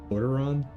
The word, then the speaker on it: Lordaeron: Lordaeron?